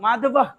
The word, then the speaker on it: মাধব: মাধবা লিখে দিয়েছিলাম না এটার উচ্চারণ মাধবা মাধবা উচ্চারণটা এরকম হবে মাধবা অর্জুনা অর্জুনা